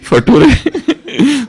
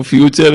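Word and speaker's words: future: नटूरे फटूरे, वो फ्यूचर है, वो नेचर है, वो नटूरे और फटूरे नहीं है।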